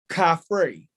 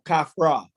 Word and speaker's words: Khafre: the greek rendition of the pharaoh khafre or kafra or however you want to uh say it i think it's